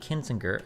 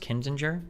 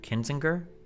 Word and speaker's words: Kinzinger: Cheney and Kininger uh Kininger have each faced backlash for highrofile criticism of Trump. Okay, it's pronounced Kinzinger. Kinzinger.